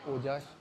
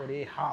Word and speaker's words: oreja: तो हम लोग अभी ओजा नॉट ओजा ओ ओजा है बट ओरेहा बोलते हैं ओरेहा ओरेहा जे को ये एच प्रोनाउंस करते हैं एक्चुअली अगर मैं आपको